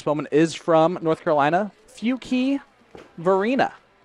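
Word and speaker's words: Fuquay-Varina: of course it might be time to let everyone know that Alex Bowman is from North Carolina few key Varina North Carolina is how you pronounce that and then Portsmouth Virginia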